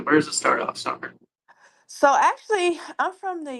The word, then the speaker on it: Summar: Hi, my name is Summer. Just like the season, it's just spelled with an A instead of an E.